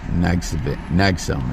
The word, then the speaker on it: NXIVM: Nexum is how I heard it pronounced.